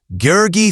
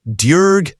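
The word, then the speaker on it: György: Gurgi Thurzo, the man who would hunt her, is pronounced Durg Thurzo.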